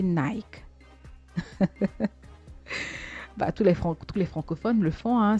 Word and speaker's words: Nike: Je suis sûre que vous avez pris habitude de prononcer Nike. Tous les francophones le font, c'est devenu une institution de dire Nike. Et pourtant, notre fameux Nike se prononce en réalité Nike.